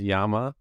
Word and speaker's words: llama: the the llama versus Yama pronunciation debate it's anyone ever correct you like is it yeah Double L it's a Spanish word it's a double l so technically it's Yama and a llama would